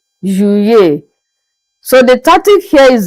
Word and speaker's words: Juillet: July in French is pronounced as Juillet, Juillet. So the tactic here is that you pronounce the two letter L as if we are pronouncing just one letter Y.